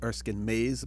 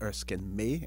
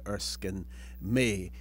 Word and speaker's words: Erskine May: on her skin may some people canang pronounce it Erskine Mays but I believe it is Erskine me ma Y and his most famous